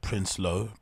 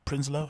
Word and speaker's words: Prinsloo: is bahati Prince solo is it Prince low prinslow how do you pronounce that I think it's Behati Prinsloo right who also happens